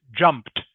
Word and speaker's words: jumped: 10% 10% 10% overnight okay so the word is jumped can you say that please ding jumped jumped okay not jumped not jumped but jumped almost like it has a t on the end instead of e d jumped jumped can you